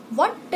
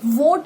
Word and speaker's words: what: वोट भी कह देते हैं. ये VOT वाला वोट कुछ नहीं है. ये VOT कुछ नहीं है. ये कोई भी मतलब प्रोनाउंसिएशन ठीक नहीं है, गलत है. वट एंड ये वोट ये सब गलत है. What is your name? What is your name? It's wrong. It's what. What.